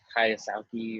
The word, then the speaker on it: Kiyosaki: Robert Kiyosaki, or however you say his name. Yeah. So Kiyosaki?